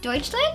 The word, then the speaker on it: Deutschland: Oh, and then I will go to Deutschland. Does that count? It's Germany, and that's how they say it there.